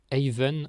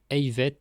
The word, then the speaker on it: eilvet: À certains endroits, par exemple à Arzano, Riantec, Bels, Brandivy, Monterblanc, etc., on dit eilvet avec des prononciations variables. Eiven à Arzano, Eivet à Riantec.